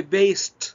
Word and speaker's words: based: من based based and pay attention to the pronunciation of based. طبعا عايزك تنتبه لنطق based. base ال ed بينطق في نهايتها ت، I say based and not based, okay?